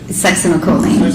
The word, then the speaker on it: succinylcholine: And so, if the, butcher the pronunciation, you pronounce it. Succinylcholine.